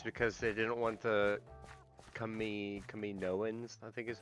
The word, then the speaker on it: Kaminoans: No, it's because they didn't want the Kaminoans, I think is how you say it. Yes, Kaminoans.